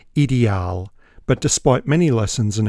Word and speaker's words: Ideal: and in deuts land the company name is pronounced idal but despite many lessons and effort I don't spaken deuts so I'll stick with ideal I should have got a closeup of the